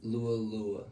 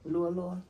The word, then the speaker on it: Lua Lua: How you pronounce Lu Lua? Lu Lua? Lu Lua. Lu Lua.